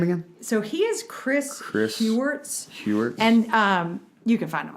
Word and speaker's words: Heuertz: Yes, that's Chris a great Hewart, one. in the Sacred Enneagram really goes more into that. That's a big part of his Enneagram introduction. Okay. What was his name again? So he is Chris Hewart.